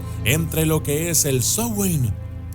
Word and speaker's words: Samhain: Para algunos es Halloween, para otros Samhain, pero lo correcto es pronunciarlo como Samhain.